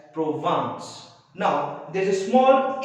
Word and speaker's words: Provence: The name of that place is, though it is written as Vence, it's a French place, so it is pronounced as Provence.